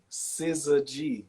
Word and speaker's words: syzygy: That, Syzygy is not SCIZ. It's SIZ. Syzygy.